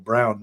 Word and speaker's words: Braun: And for that matter, you could think that the Braun brand that I use for, or Braun actually, as you pronounce it in German, it could have a unique sound itself.